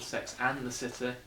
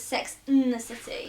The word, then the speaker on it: Sex and the City: But it's called Sex and the City. I say it like you'd say it literally just as Sex in the City. You've been saying it wrong the whole time.